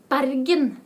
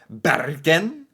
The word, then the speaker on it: Bergen: a video about the barin dialect okay oh Beren Excuse excuse me I wasn't saying it right Beren dialect this is my